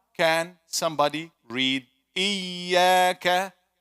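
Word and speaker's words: إِيَّاكَ: Iyaka. Brothers. Everybody. Iyaka. Sisters. Iyaka. Again. Iyaka. If you have a trained ear, you will be able to pick, even if one person is saying it wrong.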